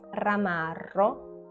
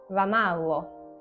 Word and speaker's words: ramarro: So instead of saying ramarro, they could probably say ramallo.